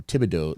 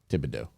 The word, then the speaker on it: Thibodaux: Thibodeau sound like a go like the go tiger. You know what I mean? Thibodaux sounds like something you say repeatedly to get ready for pussy eating.